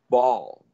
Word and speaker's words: Baal: Well, if Bet Bet is a gateway, what's Bet Lamed? It would be pronounced Baal.